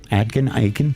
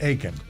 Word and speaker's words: Aiken: Aiken? Aiken. Like Claude Aiken. I'm aching all over.